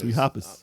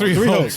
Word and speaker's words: Three Hopes: They pronounced it Hoppers. No, they didn't. They did not. Stop it. Don't listen to this guy. Such an asshole. It's Three Hopes.